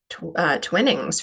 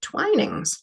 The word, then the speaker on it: Twinings: thought this was called twinnings for the longest time but actually no when I got to the UK they pronounce it twinings so that's a good